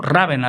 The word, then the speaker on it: Ravenna: Entonces él fue a morir en Ravenna, o Rávena lo pronuncian otros.